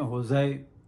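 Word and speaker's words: José: لیکن اگر آپ اسپینش کنٹریز میں چلے جائیں تو وہاں پر وہ لوگ جوزف نہیں کہتے, وہ کہتے ہیں ہوزے, جیسے کہ سین ہوزے. اور وہ جو ہوزے لکھا جاتا ہے وہ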